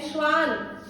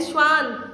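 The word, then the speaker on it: Schwann: बच्चों प्लीज इसको याद कीजिए, 2 साइंटिस्ट हैं, नाम याद करेंगे ऐसे, स्लाइडेन एंड श्वान। मेरे साथ प्रोनाउंस करो, ठीक है? स्लाइडेन एंड श्वान, ये इन्होंने दिया।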